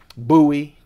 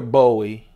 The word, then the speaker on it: Bowie: that blade that traditional Bowie Bowie Bowie or Bowie depends on where you're from I guess blade and